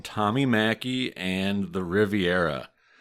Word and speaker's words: Machi: to that effect, but I know that the family has used Machi. They had a bar called Machi's, for example. So I'm just going to use that pronunciation. If somebody wants to ding me on it, go for it. There's a reason I'm pronouncing it the way I am. So this isn't just me using my Midwest accent to read Italian.